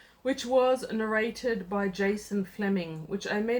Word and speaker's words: Flemyng: to the audiobook, which was narrated by Jason Flemyng, which I may not be pronouncing his name right.